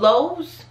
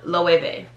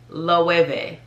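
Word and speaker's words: Loewe: but it is pronounced lovey so that w is really like a v loeve this one super easy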